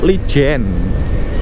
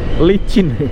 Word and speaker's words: Licin: Lijen. Ayo, bacanya Lijen apa Licin, teman-teman? Nah, Licin.